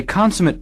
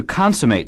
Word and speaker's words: consummate: he or she plays consummate is also a verb notice the different pronunciation to consummate something is to finish it or make it complete signing a contract would